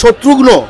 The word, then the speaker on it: শত্রুঘ্ন: সম্প্রতি শত্রুঘ্ন সিনহা একটি আমিষ খাওয়া নিয়ে একটি মন্তব্য করেছেন, তো এই মন্তব্যের আপনার কি বিশ্লেষণ? আপনি বললেন সম্প্রতি শত্রুঘ্ন সিনহা, শব্দটি শত্রুঘ্ন আমরা এভাবে উচ্চারণ করি, কারণ এই বিহারিরা কিন্তু মমতা বলে না, মমতা বলে।